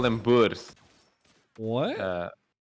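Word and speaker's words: Boer: yeah they call them bus what uh like the the word for Farmer and Africans is a bu and um yeah they they no b o e r that's how you spell it uh and yeah they they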